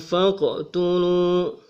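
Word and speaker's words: فاقتلوا: Itu adalah contoh bagaimana qalqalah sugra bekerja, yaitu ketika huruf qof berada di tengah ayat.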